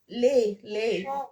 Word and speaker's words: les: Lay. This time is Les lay because it's chevaux. plural.